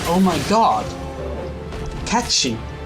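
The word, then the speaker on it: Cait Sith: Uh there is a Kiff. Oh my god. Katchchi. Katchchi. It's how it's pronounced.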